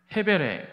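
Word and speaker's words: הֶבֶל: 이 가인의 동생의 이름, 그 아벨의 그 이름을 성경 원어에서 보게 되면 그 정확한 발음은 아벨보다는 헤벨에 가깝고, 이 뜻은 문자적으로 안개 또는 무, 그러니까 없을 무.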